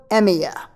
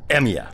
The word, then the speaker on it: Emiya: Shirou Emiya. No way! What? Emiya. Yeah? Could you spell that?